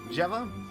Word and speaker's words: Geva: I always wonder, is it Giva? Geva? Jiva? Jeva? Let's do a soft G. Jeva.